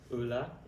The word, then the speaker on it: Euler: Et comment on prononce ça en français? Euler.